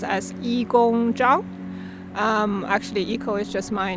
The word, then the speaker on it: Yigong Zhang: spirit um hi i'm iko my chinese name pronounced as yi gong zhang actually eco is just my nickname i work